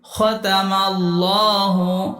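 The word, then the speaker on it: خَتَمَ ٱللَّهُ: খাতামাল্লাহু আল্লাহ শব্দের আগের হরফের উপরে জবর এবং পেশ থাকলে লাম খাড়া জবর ল উচ্চারণ হবে। এখানে খতামাল্লাহ ল হবে এবং খাড়া জবরে 1 আলিফ টান। খতামাল্লাহু আলা লাম খাড়া জবর এক আলিফ টান কুলুবিহিম পেশের বাম পাশে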